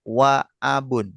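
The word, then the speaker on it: وأب: Misalkan kita kasih wawu depannya itu bacanya tetap waabun. Tetap terbaca, tertulis dan terbaca.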